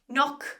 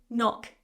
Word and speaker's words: knock: Words that typically start with K and N, so K and N, we don't pronounce the K. So for example, knock on the door, my